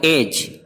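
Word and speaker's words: edge: जैसे एग्जांपल है एज, किनारा। देखिए एज में जी से पहले डी आया है, लिहाजा ये खामोश है, नहीं पढ़ा जाएगा। इसको पढ़ेंगे एज, एड जी नहीं पढ़ेंगे बल्कि एज, किनारा।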